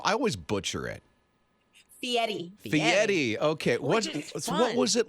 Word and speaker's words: Fieri: say guy's last name I always butcher it Fieri okay what was it like meeting him and